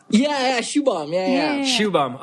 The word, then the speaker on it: Shubham: pronounce your name correctly so if you can pronounce it for me just to make I think Nicole Shubham okay so where are you where's your family